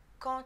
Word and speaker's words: quand: Attention, quand le mot quand est suivi d'une voyelle ou d'un H muet, ça se prononce toujours te.